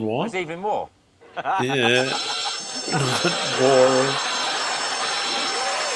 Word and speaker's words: Waugh: What if they were to send the prisoners of war very long socks and concealed inside of the socks are big files to...